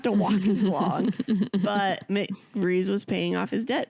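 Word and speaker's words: McVries: And that's when McVeers, did I say it right? McVrees. You said it right now, but you spelled it wrong in your notes.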